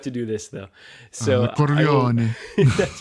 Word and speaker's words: Corleone: Corleone.